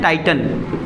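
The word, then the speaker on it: Titan: लेकिन कुछ वर्ड ऐसे होते हैं जो 12 खड़ी के हिसाब से नहीं चलते, उसमें से एक ये वर्ड है, इसको पढ़ते हैं टाइटन।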